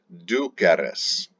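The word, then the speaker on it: duceris: present ending res but make sure the vowel between the stem and the res ending is the letter e pronounced e du queres you are being led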